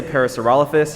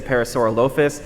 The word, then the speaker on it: parasaurolophus: a juvenile parasophalorus okay people tell me i say it wrong i say paracerophus you could say parasaurolophus honestly if you say it with a lot of gusto no one's going to tell you you're wrong but so everyone say hi to